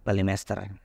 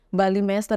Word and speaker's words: Balimester: cuman kalau orang kita orang Indonesia yang tulisannya Mister ya bacanya Master aja Oke deh nah Berarti kesejarahan di balimester ini memang luar biasa